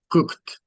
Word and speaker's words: cooked: Cooked. Cooked. So you see the difference? Ahí está la pronunciación de la T. Now, cooked. Cooked.